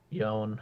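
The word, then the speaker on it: Yone: it's between AI Aurora vex Gallo Yona yon yon however you say his name um it's yon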